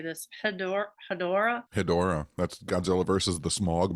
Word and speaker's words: Hedorah: with, I don't know how to say this, Hedorah.